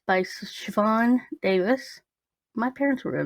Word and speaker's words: Siobhan: It looks like Sio Bahan to me. Sio No, it's Bahan. Siobhan. It's Siobhan.